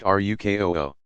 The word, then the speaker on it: ruku: From 2 to 4 cycles of standing, bowing to place hands on knees, ruku, pronounced rukoo.